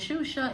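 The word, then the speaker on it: Xuxa: But yes, my name is Shusha. It's spelled X UXA.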